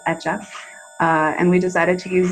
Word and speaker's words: Hecha: our brand name is etchab and it's a word that in spanish it means made or created in terms of pronunciation the h is silent so it's just etch up and we decided to